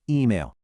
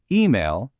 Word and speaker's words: E-Mail: It's die E-Mail. Let's really listen to those vowels. It isn't a soft English email, it's sharp, it's clear.